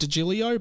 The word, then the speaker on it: DeGilio: He says it's pronounced DeGilio, but I don't care.